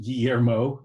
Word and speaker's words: Guillermo: My name is Guillermo. We're going to talk about eliminating invisible work. Thank you, Mike, for the intro. So Guillermo is pronounced Guillermo.